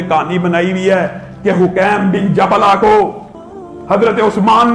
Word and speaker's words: حکیم: بغیر حکیم بن جبلہ، اس کو بعض لوگوں نے حکیم بھی کہا لیکن اصل اس کا تلفظ حکیم ہے، حکیم بن جبلہ۔ دیکھیے